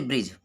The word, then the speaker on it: bridge: तो पहला देखेंगे, जी से पहले डी साइलेंट रहता है। अगर जी से पहले डी होता है तो साइलेंट रहता है डी। तो देखेंगे एग्जाम्पल के माध्यम से, जैसे ब्रिज, BRIDGE।